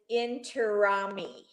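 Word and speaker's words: Intiraymi: Okay, it's his first name is Manu, and his last name is Intirami.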